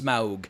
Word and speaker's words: Smaug: I know it's Smaug, but anyway, I pronounce it Smaug, like smog in the air.